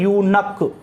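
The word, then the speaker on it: eunuch: आपने देखो यहां पर ये बहुत अच्छा वर्ड है यूनक, ये एग्जाम में पूछते हैं, गलती करते हैं बच्चे, इसका प्रोनाउंसिएशन होता है यूनक, ध्यान रखना।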